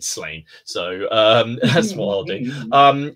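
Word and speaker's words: Slaanesh: I think how's it pronounced? Is it Slania? Slania. Yeah. Slania. But 14-year-old Martin said Slain.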